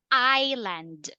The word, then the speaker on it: island: okay but this one this is Island a piece of yeah the piece of land that is called Island all right silent s all right continue uh